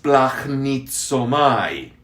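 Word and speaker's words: σπλαγχνίζομαι: aprendan están listos si el verbo tener compasión se dice en griego es planit so may sí a ver repitámoslo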